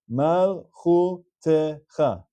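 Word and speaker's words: מלכותך: The sheva underneath the tav is a sheva na. It's pronounced, and it's pronounced as te. Therefore, this word is malchutecha. 4 syllables. Malchutecha.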